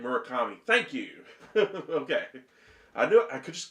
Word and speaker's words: Murakami: Murakami. Thank you. Okay. I just couldn't remember the exact pronunciation or spelling of his name, but I knew the guy.